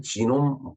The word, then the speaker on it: 지놈: 독일어식으로 발음할 때 게놈이고, 영어로, 발음할 때 지놈이라고 그래요. 지놈. 그래서 어떻게 보면은 인간 지놈 프로젝트 해독의 날.